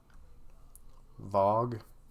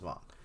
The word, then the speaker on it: Vaughn: I love, how do you pronounce his name? Vogue? Vaughn. Vaughn. It's Vaughn. See here.